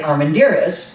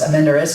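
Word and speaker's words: Armendariz: Provisions was arendas which many people say Armand deer is but I had a person down the hall from me who was her last name was amender is and so that's how I learned how to say it and I've had judges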